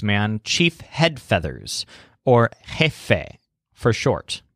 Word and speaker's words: jefe: chief head feathers or jefe for short so it sounds kind of like the beginnings of the words head feathers the word jefe means